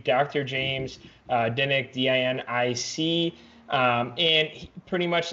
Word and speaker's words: Dinic: sugars and like performance, Dr. James Dinick, I think that's how you pronounce his last name, D-I-N-I-C, or Dinick, might be like an Italian last name.